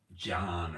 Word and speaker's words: Can: It's spelled Can. C-A-N, Everinal, but it's pronounced like John or, sorry, I'm not, us Turkish.